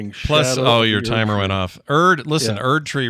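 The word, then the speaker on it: Erdtree: Erd tree rhymes with turd tree, so maybe they know what they're doing.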